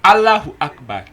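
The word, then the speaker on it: الله أكبر: Is that the correct pronunciation? Is what? Allahu Akbar.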